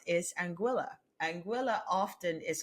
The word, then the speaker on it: Anguilla: But no, it is not Anguilla; it is Anguilla. All right, so Anguilla. That is the correct pronunciation of the name.